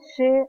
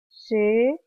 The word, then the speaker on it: che: Ella cuando señala va a decir Koba she mochila. Tiene otro sonido, la CH en guaraní no se pronuncia como en castellano, mochila.